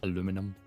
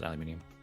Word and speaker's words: aluminium: it's Alum mini um the fun fact only North America says aluminum the rest of the world is aluminium we need to just